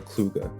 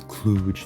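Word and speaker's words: Kluka: Nori norova or Laura kuga I mispronounced her name as clug in a previous video I'd say it's likely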